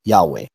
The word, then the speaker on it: Yahweh: of pronouncing it and they were pronouncing it Yahweh now here's real quick